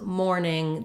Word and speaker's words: mourning: sound and we have first syllable stress so we have more ning morning and it's the same as mourning the time of day so if you're struggling